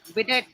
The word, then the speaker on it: bidet: So what about the how you pronounce that? Bidet? Do you they use The that, bidet right? is bidet.